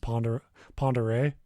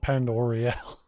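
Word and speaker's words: Pend Oreille: my current job, but I think that's pronounced Ponderay. Could be. It's the weirdest looking name. Because it's a nearby county to where I live. So well, there we go. We'll say Lake Ponderay. I call it Pend Oriel in my head.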